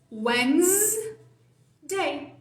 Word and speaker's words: Wednesday: Wednesday. Esquece isso aqui, que tem um B que não é pronunciado, que tem um E que não é pronunciado, e foca nessa partezinha aqui de baixo.